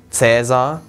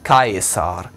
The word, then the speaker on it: Caesar: Oder nicht Cäsar, sondern Caesar. Also das AE wird nie wie ein Ä ausgesprochen, sondern immer getrennt.